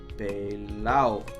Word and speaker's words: pelao: All right, then if I am broke, then I am pelao. No D because it's Puerto Rico.